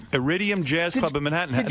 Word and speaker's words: Iridium: Iridium Jazz Club in Manhattan.